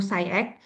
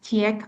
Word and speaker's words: SCIEX: Nah, di sini di PT Mulia Sejahtera Scientific kita membawa satu brand, yaitu SCIEX. Tulisannya mungkin orang bingung suka baca CIEK atau SAIK gitu. Jadi kita bacanya SciEx.